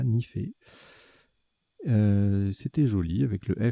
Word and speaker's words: nifé: On a joué Nifé, N-I-F-E. Vous aurez la définition tout à l'heure, ça se prononce bien comme ça, Nifé.